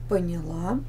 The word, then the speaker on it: поняла: Начала начали понять понял поняла поняла поняли Запишите глагол прошедшем времени мужском женском и среднем роде и во множественном числе обозначите ударение запомните произношение глагола в этих формах Итак запишем лить тире